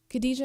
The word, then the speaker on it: Khadijah: one any other name khadijah means wife of the Prophet nothing about my name is casual your mouth has to make an effort you have to commit to all eight letters all three syllables no nickname it means